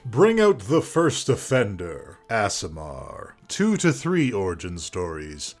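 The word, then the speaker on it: aasimar: to say about asamar asamar pronounced asamar thank goodness I got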